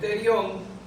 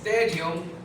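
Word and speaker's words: pterion: No es terión, es terion con P, que no suena, pero sí se escribe. No. Terion. Asterio. La P va, porque es griego, que no tiene que cuando se escribe con P, la P no suena.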